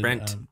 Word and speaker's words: Brent: No, but we meet Brett. He's excited. Brent. Brent. Did I say it like, You keep saying Brett. It's Brent.